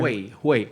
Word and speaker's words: Juey: pronounced with like a J, like an H. Yeah. H. Okay, H. sorry. The J sounds I like should an have H. asked you beforehand. Juey Sambuco. Okay. Juey.